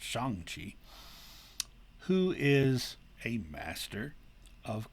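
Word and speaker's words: Shang-Chi: chinese character shang chi which would i guess more appropriately be pronounced shang chi who is a master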